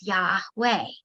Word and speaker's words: Yahweh: or aspirated consonant so when pronounced without intervening vowels it actually sounds like breathing yeah inhale boy exhale